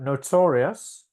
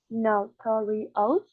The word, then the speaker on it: notorious: Notorious. The phonemes are notorious. Uh-huh. And I think the stress is in the second syllable.